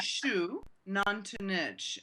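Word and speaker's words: Xunantunich: But it's basically shu nantanich. And shu, the sh sound in Mayan is the X.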